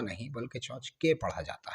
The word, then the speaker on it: tchotchke: तो क्लियर हो गया now talk about the pronunciation of that word so the pronunciation of that word is चौच का चचका एंड चचका चौच is pronounced in British English लेकिन ये word जो ज्यादा प्रे वेलेंट है जो ज्यादा ट्रेंडिंग है वो इनफॉर्मल अमेरिकन इंग्लिश में प्रे वेलेंट है और अमेरिकन इंग्लिश में इसे चौच क नहीं बल्कि चौच